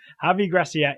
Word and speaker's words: Javi Gracia: how to pronounce his name I think it's heavy grass yeah yeah that's alright it doesn't but yes that's what it is I kept mistyping it as he Garcia yeah javi Gracia is the coach of Watford he took over